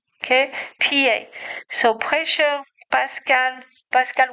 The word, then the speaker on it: Pascal: Pascal was French, so I know I say it right.